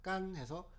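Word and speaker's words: 乾: 그래서 간짜장의 간은 원래 말을 건자인데, 이 말을 건자의 중국어 발음이 깐입니다. 그래서 깐해서 우리는 간짜장 이렇게 얘기하는 것이죠.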